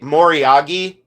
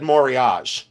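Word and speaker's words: moriage: the builtup like icing they say moriyagi and I go oh my god I want to throw up but uh we always said morage like back in the day like oldtime antique dealers we said morage. We never said moriyagi.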